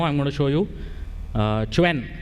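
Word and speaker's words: Qwen: For today's demo, I'm going to show you Quen. Apparently, it is pronounced Quen, but I prefer saying Quen.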